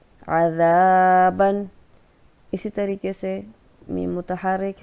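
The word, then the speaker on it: عذابًا: اس کو اس طرح سے ادا کیا جائے گا. عین زبر ع، ذال الف زبر زا عذا، با دو زبر بن عذابن.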